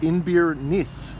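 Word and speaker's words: Inbhir Nis: and art gallery and the town is pronounced in beer nice in Scots Gaelic meaning mouth of the nest River one of the ancient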